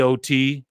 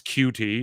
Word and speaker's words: QT: Hey, OT, gets his name wrong. It's QT, not OT.